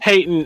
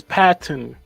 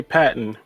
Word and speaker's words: Patton: the disrespect you're saying Peyton is Patton Patton sorry I appreciate I didn't say patent no no you said it wrong he just said Peyton you said Peyton you didn't say Patton okay my apologies it's